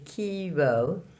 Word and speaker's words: chiaroscuro: word for the day is first part is Kiro and then the second part is skewer the light and shadow in Italian and I'm going to